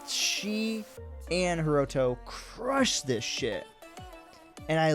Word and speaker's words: Hiroto: I should say her bringing in Hiromi, is that how you say his name? No, sorry, Hiroto. Way off.